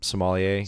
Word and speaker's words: sommelier: What is the sommelier? Sommelier. Is that the term? Yes. Am I pronouncing it right?